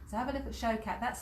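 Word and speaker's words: Shaukat: So have a look at Showcat. That's spelled S-H-A-U-K-A-T, Showcat.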